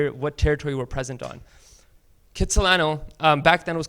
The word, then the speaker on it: Kitsilano: Argost Jack cut Solano Kitsilano is kind of like the anglicized pronunciation of his name do you know I